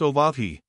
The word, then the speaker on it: Oahu: named him after the silent Oahu pronounced oahi the first gate he